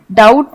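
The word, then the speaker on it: doubt: इस वर्ड में डाउट में बी साइलेंट है, तो इसे हम डाउट बोलते हैं।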